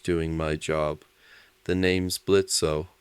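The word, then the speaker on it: Blitzø: my job the name's blitzo the O is silent isaku blinks what oh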